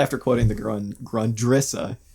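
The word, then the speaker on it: Grundrisse: quoting the girl in grundrissa which up until a couple days ago i was pronouncing grundrus so thank you dan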